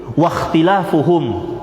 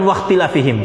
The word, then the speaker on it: wakhtilafuhum: Di sini disebutkan wahia birraf'i, disebutkan situ, ya, hadisnya fa innama ahlakal ladzina min qablikum kasratu masailihim wakhtilafuhum, bukan wakhtilafihim cara bacanya, tapi wakhtilafuhum.